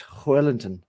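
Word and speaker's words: Joelinton: Kieran Trippier, Fabian Shaw, Sven Botman, Dan Burn, Bruno Guimaraes, Sean Longstaff, Joe Willock, Miggy Almiron, Joe Linton, or how did Bruno pronounce that? It was Hoylinton. Was it Hoylinton?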